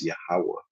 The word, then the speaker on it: Yahweh: It's pronounced in the Paleo Hebrew as Yahweh, the true name of the Lord.